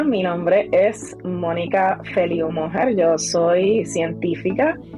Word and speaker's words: Mójer: Moher, con acento en la O.